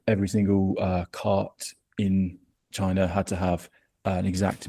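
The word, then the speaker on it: Qin: So the first imperial dynasty, the Chin dynasty, I think is how you pronounce it. It's Q.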